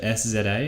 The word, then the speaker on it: SZA: Then I have Kendrick Lamar and is it SZA? Is that how it's pronounced?